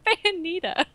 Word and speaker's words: Bayonetta: Why are you just mispronouncing everything? Bayonetta. It's Bayonetta.